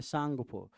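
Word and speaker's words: Tsangpo: से सांग टी एस एन पी ओ माने सांगपो टी साइलेंट हो जाएगा और एस से सच्चर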